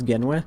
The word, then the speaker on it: Genwe: So, I don't know if you know how my name's properly pronounced, but it is Genwe.